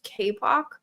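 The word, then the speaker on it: Kapoq: Um however dashboards are really useful here and so we use KPOC um which is spelled K A P O Q.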